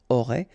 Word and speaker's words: auraient: Ils auraient, remember, ENT, you don't pronounce it, auraient, ils auraient, elles auraient.